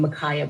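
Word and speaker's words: Ma'Khia: call it fate this situation today with micaiah bryant that's how you say her name mikaya bryant the 16 year old who was in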